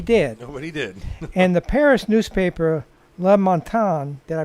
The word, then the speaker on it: Le Matin: And the Paris newspaper, Le Matin, did I pronounce that right? Le Matin, yes.